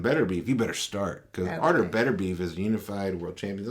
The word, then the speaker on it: Artur Beterbiev: Artur Beterbiev.